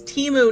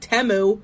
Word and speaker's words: Temu: they're freaking gaslighting you the name of the company is teu not temu I'm going to be